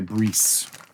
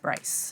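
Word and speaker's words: Briess: By Breeze. You can get it using the link below. I think it's actually pronounced Bryce. Bryce.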